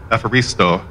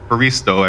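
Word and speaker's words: ευχαριστώ: he could never remember how to say the word for thank you um which is uh which was uh efferisto um he always just said baristo every time despite being corrected numerous times my dad was a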